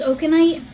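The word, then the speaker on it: okenite: say this correctly it's i believe pronounce okanite um it's spelled o-k-e-n-i-t-e and this is a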